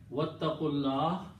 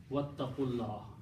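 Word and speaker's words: وَاتَّقُوا اللَّهَ: But here, wattaqullah and wow and when you combine, you don't pronounce this alif here, it becomes hamzatul wasl, wattaqullah. And then you combine qaf with Allah. Okay, lam.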